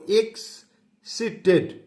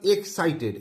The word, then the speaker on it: excited: এটা উচ্চারণটা দেখো, এক্সিটেড অর্থাৎ এক্সাইটেড। এটাকে বলতে পারো CIT সির মনে হচ্ছে, কিন্তু না, এক্সাইট, CIT, site add, এক্সাইটেড, এক্সাইটেড, এক্সাইটেড।